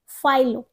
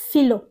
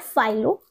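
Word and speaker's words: philo: सो ये क्या है फाइलो इट्स नॉट फिलो कुछ लोग कैसे बोल देते फिलो ऐसा लग रहा है नो इट्स कॉल्ड फाइलो और इसका मीनिंग इंग्लिश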